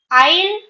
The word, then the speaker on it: isle: So, for example, Isle and ale. There are two words which sound the same. One is ISLE. ISLE is pronounced isle. S is silent. You have to pronounce it isle.